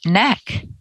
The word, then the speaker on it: KnaQ: i have the website k-n-a-q dot com pronounced neck is there anything else